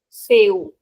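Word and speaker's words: céu: First rule says that when C comes before either E or I, it is pronounced as S as in say. We already saw that. Example we have the word SE. Seu means sky.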